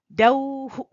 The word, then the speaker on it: द्यौः: अब हम देखते हैं औ की मात्रा के साथ जब विसर्ग लगता है तो वो हु की तरह हो जाता है। द्यौः, ओम द्यौः अंतरिक्षध्वं शांति पृथ्वी, उसमें द्यौः या गौः।